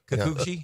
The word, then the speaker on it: Kikuchi: Everybody needs a little Kikuchi. Is that how you say it? Kikuchi? Kikuchi? Kikuchi, yeah.